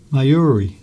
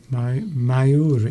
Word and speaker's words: Mayuri: Duncan pronounced my name correctly. Come on, say it again then. Mayuri. Mayuri.